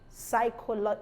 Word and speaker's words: psychology: pneumoniae pneumatic psychotherapy psychotic psychology psychologists pseudo pseudonymy pseudonym pseudonym and pterodactyl pterodactyl so you see that the peas are not pronounced in pH sometimes produce